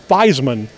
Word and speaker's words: Theismann: Dame sports information director, asked Joe Theismann to change his last name to Joe Theismann to rhyme with Heisman. And it's been pronounced that way ever since.